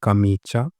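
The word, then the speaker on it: camicia: Language में बोलते हैं कामीचा, कामीचा। आगे जो प्रोनाउंसिएशन है वो भी आप देख सकते हो, कामीचा। एच को आप हटा सकते हो, कामीचा, कामीचा ये हो गया शर्ट।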